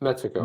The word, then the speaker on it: Metaco: So Chip, the correct pronunciation of Metaco, you put more stress on the first syllable. It's Metaco.